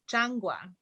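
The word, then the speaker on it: changua: to say that um it's pronounced changgua yeah thank you yeah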